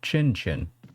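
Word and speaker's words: cin cin: Sometimes you say sins instead of instead pronounce like oh chin chin chin chin.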